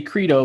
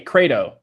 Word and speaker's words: credo: number one crate Oh some people want to say credo but it's actually with a like a cray cray dough it's how you pronounce it credo credo posts are